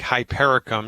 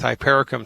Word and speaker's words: hypericum: It's homeopathic hypericum. You spell that H like Harry, Y, P like Peter, E, R like Robert, I, C like Charlie, U, M like Mary, Hypericum.